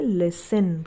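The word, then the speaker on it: listen: एस टी ई एन इसे हम पढ़ेंगे लिसन क्या पढ़ेंगे इसे लिसन बहुत से लोग इसे लिसन भी पढ़ते हैं जो टी है ना यहां पर ये साइलेंट रहता है यानी टी का इस्तेमाल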